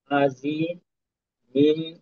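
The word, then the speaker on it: عظيم: পরেরটা তোর আইন জবর আ, জজের জি, আজি, মিম, মিন, তুইজের দিন, আজি, মিম দুইজের মিন, আজি মিন। আর ওয়াক্ফ হইলে আজিমি, আজিম। জি, এখানে আইনের উচ্চারণ জয়ের উচ্চারণে আরেকটু মাখরাজে চাপ থাকবে, উচ্চারণটা।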